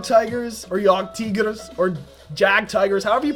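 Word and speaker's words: Jagdtiger: I have one-shot Yog Tigers, or Yog Tigers, or Jag Tigers, however you pronounce it. It's properly pronounced Yog Tigers, because that's how the Germans say it.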